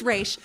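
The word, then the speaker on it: Ra's: into just Ral ghoul it's re not RZ it's re okay I'm sorry that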